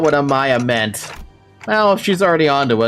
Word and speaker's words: Amiya: The AI overview is saying Amiya, and I'm like, are you dumb? That's not how you pronounce that.